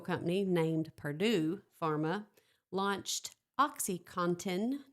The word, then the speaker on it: OxyContin: And in 1996, the Sackler family's pharmaceutical company named Purdue Pharma launched OxyContin, not OxyCotton. Contin. There's no cotton in it.